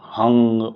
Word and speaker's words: Ang: Let me clarify, this is not Ang. You don't use a G at the end. It is just short of using that. Ang. Just stop before you pronounce the G or the Ga. Ang. Ang. This is how you pronounce it.